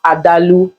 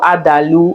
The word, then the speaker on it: adalu: but they call it I'm not sure I'm going to pronounce it well but it's adalu or adalu or whatever I don't